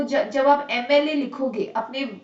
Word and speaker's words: MLA: Because when I pronounce MLA, the first sound that comes out of your mouth is A.